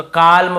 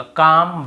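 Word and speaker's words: calm: बहुत से कालम बालम पालम नहीं होगा। काम बाम पाम और आमंड ऐसे आलमंड आलमंड नहीं पढ़ेंगे।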